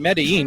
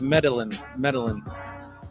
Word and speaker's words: Medellin: I've been saying Medellin because it's spelled exactly like the city in Colombia, but it's Medellin.